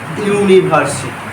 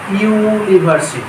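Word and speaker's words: university: মতই এ বসবে অবশ্যই একটি বোঝাবে দেখো এ ইউনিভার্সিটি এ ইউনিভার্সিটি ইউনিভার্সিটি তাহলে প্রথম উচ্চারণ কি ইউ এর মত হচ্ছে না সেজন্য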